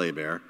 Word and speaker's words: Hebert: Stephen Colbert, spelled like Colbert, but people say Colbert, the Colbert Report. Like, oh yeah, cool, all right. So yeah, Kyle Hebert.